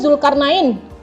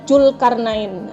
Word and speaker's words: Zulkarnain: Atau namanya Zulkarnain, dibaca Julkarnain. Itu adalah kesalahan penggunaan lafal baku dalam ragam bahasa lisan.